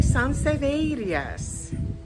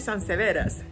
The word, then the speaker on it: sansevieria: tenemos un vídeo de sanseías así se dice verdad porque no se dice San severas OK Vamos a hablar